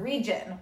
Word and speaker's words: region: Let's sound out that word region with that hard G because there's an I after it.